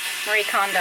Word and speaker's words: Marie Kondo: Marie Kondo, I think.